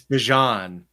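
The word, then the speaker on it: Bijan: But he was like, "It's Bjon."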